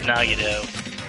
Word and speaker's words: Nagito: dead is he i i mean it's the nagado you know i don't know if i'm pronouncing that right that's right it's nagido he's always messed with